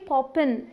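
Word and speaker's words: popping: क्या चल रहा है मोस्टली बोलते वक्त ये पॉपिंग इस तरीके से बोला जाता है मतलब जी साइलेंट सा फील होगा हे एरी व्हाट्स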